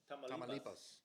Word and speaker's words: Tamaulipas: Tamaulipas.